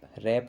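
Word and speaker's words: wrap: फिर है रैप, रैप में देखो डब्लू की साउंड नहीं है तो डब्लू यहाँ पर साइलेंट है।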